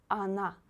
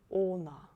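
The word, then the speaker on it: она: read some other examples is not stressed ana please don't say o na it's not correct first or is stressed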